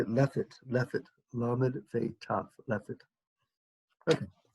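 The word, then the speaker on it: לפת: Lefet, lamed fe taf, lefet.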